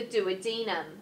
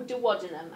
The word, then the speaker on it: duodenum: The pyloric sphincter will control the amount of chyme that pushes out of the stomach and into the duodenum, or duodenum, I don't mind how you say it.